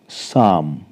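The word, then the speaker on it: psalm: silent रहेगा य पर एस से पहले पी आया है व सेलेट रहेगा तो हम इसको प्रोनाउंस करेंगे साम साम मतलब भजन फिर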